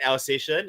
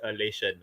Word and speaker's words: Alsatian: an animal although uh when YouTube pronounces it it's Elation you never correct me you know not once you know for like so many episodes that Jonas like okay bro like the dog okay not election all right Darwin